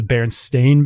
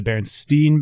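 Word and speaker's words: Berenstain: Another example would be the Baronstein Bears, the way it's spelled, the Baron Stain Bears or the Baronstein Bears.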